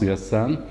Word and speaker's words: Hassan: generation my name is Hassan gh a double si an but pronounced the Sun my family name is